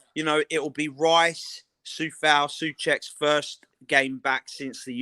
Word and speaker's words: Souček: Like I feel like I need to call him Souček because that's how you say his name.